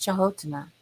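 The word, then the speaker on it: Čhaŋótiŋa: The Dakota Indians call it Chahotana, and it's spelled Canotina, but it's pronounced Chahotana.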